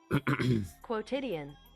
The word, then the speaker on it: quotidian: Your pronunciation. Yeah, how do you say that? The fuck? Quotidian.